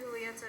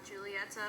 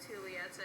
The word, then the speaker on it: Julieta: you do pronounce it julieta and not julieta because um it's in spanish and in spanish you pronounce j's as a like an h so it's pronounced julieta and yeah i i